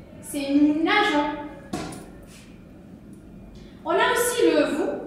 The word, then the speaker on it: nageons: Enfin, les verbes qui se terminent par G, E, R, on n'oublie pas de laisser le E avec le nous. Pour la phonétique, pour la prononciation.